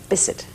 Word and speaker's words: Bisset: Bisset. It is Bisset. Mm-hmm. Yes. This is for all time. No Jacqueline Bisset. Or Bisset. Or Bisset. No, it's Bisset. Okay. Scottish.